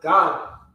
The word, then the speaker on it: Gad: she called his name Gad. So a troop cometh, and she called his name Gad. So now this is the 7th child. Gad. Gad. All right, it's the same way it's spelled, pronounced God.